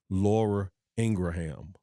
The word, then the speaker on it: Laura Ingraham: say her her the pronunciation of her correct name is really Laura Ingraham so however you want